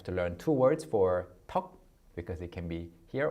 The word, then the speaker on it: 턱: 떡 and 턱. 떡 and 턱.